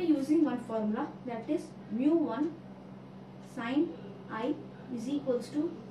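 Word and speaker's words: μ: So mu, which is the refractive index, it is pronounced as mu.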